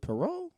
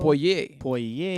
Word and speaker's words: Poirier: When Conor lost to Perot, how you say his name? Dustin Perot. Poirier. Dustin Poirier. Excuse me.